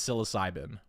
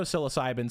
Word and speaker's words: psilocybin: Even though psilocybin sounds like it starts with an S, it doesn't. It starts with a P.